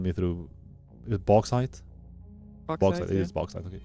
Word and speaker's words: bauxite: Bauxite. Because I don't want to go like over French because that's prejudicial as fuck. So just bauxite.